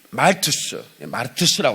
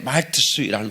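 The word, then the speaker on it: μάρτυς: 여러분, 이 순교자라는 그 단어는 헬라어로 이 마르투스라고 하는데, 말투스라는 발음이 적혔어요.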